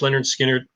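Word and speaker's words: Lynyrd Skynyrd: my top five uh leonard skinner pronounced leonard skinner great um yeah great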